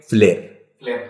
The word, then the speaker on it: flair: llaman comúnmente malabares pero el término correcto es leer se escribe flair pero se lee se les dice a